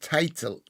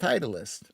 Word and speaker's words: Titleist: It's pronounced title. Title. I thought it was pronounced Titleist.